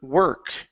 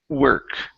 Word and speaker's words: work: Let's go to the word work. Okay, so this word is actually pronounced with an ER sound in the middle instead of saying work. Okay, it's work.